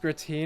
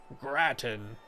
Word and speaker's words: gratin: I have to Google how to pronounce that word. Gratin? That sounds so boring. Gratin.